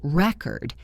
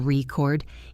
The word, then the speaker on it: record: If the stress is on the first syllable, record, it is a noun like a vinyl record or a written record. If the stress is on the second syllable record, it is a verb meaning to tape something.